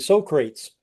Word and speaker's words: Socrates: talked about Socrates Socrates same guy and so he was stuck and when he got up and to be kind he pronounced it so crates that's beautiful